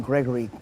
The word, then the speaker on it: Gregory: They hardly ever pronounce the name Gregory correct. They used the second G was always sounded like a K.